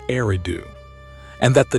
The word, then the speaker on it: Eridu: And the first Sumerian city, Eridu, according to reconstructed Sumerian grammar, would have been pronounced very close to Urudu.